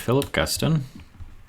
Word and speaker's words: Philip Guston: There's a painter named Philip Guston. think it's how it's pronounced.